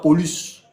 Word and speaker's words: Paulus: Et petit, là, on prononce ça Paulus.